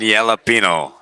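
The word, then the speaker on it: jalapeño: Teriyaki and jalapeno. The J is silent. It's always silent.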